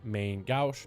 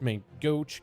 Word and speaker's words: main gauche: active will trigger mastery main gauche main goat i mean there's so many different ways i've been told that this can be pronounced it's our mastery where